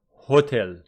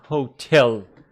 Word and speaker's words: hotel: It's not hotel, it is hotel.